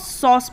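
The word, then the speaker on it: sauce: यू सी आई से सॉस में भी ए यू है और इसका उच्चारण ओ है सॉस कैसे कैसे कैसे देखते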